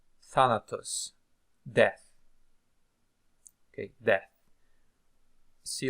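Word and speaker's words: θάνατος: move on to more words that we can pronounce here for practice Phobos Phobos sphere Phobos Thanatos Thanatos Thanatos death okay death see like eutanasia okay so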